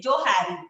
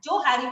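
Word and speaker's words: Johari: window or window okay so actual pronunciation according to them is Jo har Jo har window it shows you the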